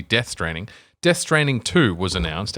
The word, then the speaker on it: Death Stranding: yeah I did say dead training I did say it wrong it is it's supposed to be death straining death straining two was